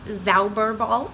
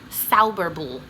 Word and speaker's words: Zauberball: is this yarn, and it is looks like it's pronounced Zauberball, but that is not how you say it. This is a German word, and I was trying to pronounce it last time, and I got it almost right, and then a beautiful viewer of this podcast commented with kind of the phonetic spelling of it. So it's Zauberball.